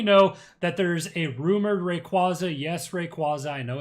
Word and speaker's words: Rayquaza: because we already know that there's a rumored Rayquaza. Yes, Rayquaza. I know it's pronounced Rayquaza, but there's going to be a rumored mega Rayquaza set.